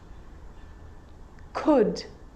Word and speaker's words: could: makes it easier in these words where l is really difficult to pronounce then it's silent ready let's try it could could could should should